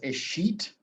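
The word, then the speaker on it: escheat: and this is a process known as a sheet in the chat because it is spelled nothing like it sounds so a sheet is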